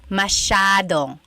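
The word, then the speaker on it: masyadong: Elijah said, "How do you pronounce mashadong?" Mashadong means a lot. So the s ya is a sha sound.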